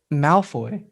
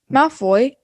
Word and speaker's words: Malfoy: mouth boy my floy malfoy so it kind of sounds like mouth boy in america nah i see you